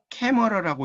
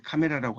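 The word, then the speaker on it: camera: 영어로 원래 캐머라라고 읽는데 이걸 이제 카메라라고 한국에서 많이 쓰는 거고요.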